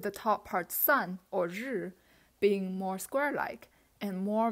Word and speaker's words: 日: The top part means sun, and it's pronounced as 日, and it's actually how we are writing sun these days.